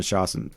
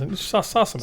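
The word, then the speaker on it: Sossamon: love story, which stars Patrick Fugit and Shannon Shostaman.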